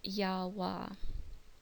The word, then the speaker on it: Yahweh: the Divine name While most Scholars pronounce the name Yahweh uh it is not something that's agreed upon in fact a good friend of mine who's a Jewish scholar pronounces the tetragramaton as yahwa because there's some question